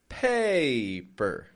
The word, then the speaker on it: paper: Paper. Strong with that pay. and then per, per. Flat, quick, quiet sound.